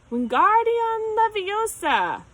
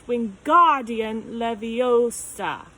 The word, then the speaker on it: Wingardium Leviosa: wasn't having much luck Wingardium Leviosa he shouted waving his arms like a windmill you're saying it wrong Harry heard Hermione stuck its Wingardium Leviosa make the guard nice and long you'd do it then